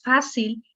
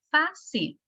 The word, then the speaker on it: fácil: Por ejemplo, aquí estamos diciendo, decíamos fácil, lleva su sílaba tónica en fa, fácil.